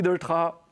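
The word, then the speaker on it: Delétraz: Vous savez que la plupart du temps, on prononce son nom de famille avec le Z à la fin, mais concrètement, il ne faut pas. Donc, bonjour Louis Doltra.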